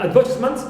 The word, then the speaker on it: advertisement: Also, we have advertisement. Normally, the stem, the verb is advert, so a is stressed, first syllable, but in advertisement, we find verb. So here we have the stress shifts here, clear, although it ends with meant.